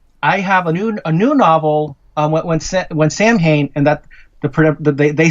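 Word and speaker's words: Samhain: When Sam Hain, and that they said that's the correct way. That's the American pronunciation, is what they said.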